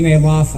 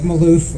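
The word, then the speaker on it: Malouf: guys like chuck said my name is mayloff i am the libertarian candidate for oh that's right looks like maloof it's pronounced nail off in my family candidate for u.s senate in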